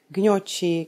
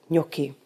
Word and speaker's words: gnocchi: Často slýcháme gňoči, kňoči. Už víme, že spřežka CH v kombinaci se samohláskou I se vyslovuje tvrdě, takže ki. Stačí nám teď vědět, že N v kombinaci s G vyslovujeme jako české ň. A už správně můžeme vyslovovat a přečíst slovo pro knedlíčky jako gnocchi.